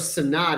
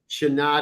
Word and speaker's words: Shanad: I thought it was Sanad. Is it Shanad? That would be, yes, phonetically the right way to pronounce it. Shanad is more appropriate.